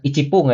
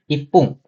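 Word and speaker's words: 一分: 1 menit ini bukan icipung ya teman-teman, tapi ipung. Nah, oh iya teman-teman, menit di sini sebenarnya pakai fun, cuman untuk beberapa kalimat, beberapa ketentuan yang seperti ipung atau sampung itu pakai pung ya teman-teman.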